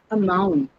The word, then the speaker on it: amount: Next one is amount. A mount. This one I want you to pay a little attention. A mount. Where do you think the stress is? Mount. On mount. And that's right.